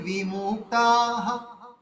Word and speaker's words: বিমুক্তা: কি করতে হবে বিমুক্তা বিমুক্তা বিমুক্তা বিটাকে আমরা দীর্ঘ না যদি বলি দন্দে বিমুক্তা বিদীর্ঘ হয়ে যাবে ভুল হয়ে যাবে বিটাকে আমাদের হস রাখতে হবে অল্প অল্প উচ্চারণ করতে হবে দন্দে বিমুক্তাহা